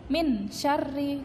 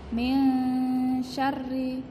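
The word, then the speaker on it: من شرّ: non mati ketemu syin jadi bacanya meong sherrif menyadi baca samar karena ada Non sukun bertemu dengan si jadi syar'i tidak boleh minsyarri tidak boleh seperti itu harus samar nesyri seperti itu Terima kasih Sekian dulu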